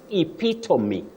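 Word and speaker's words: epitome: h hyperboy not hyperb you also say epitomy epitomy not epitom so we are learning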